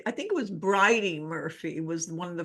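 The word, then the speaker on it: Bridey: I think it was briy Murphy was one of the first oh briy Murphy right I was saying birdie like knew I said it wrong yeah yeah that was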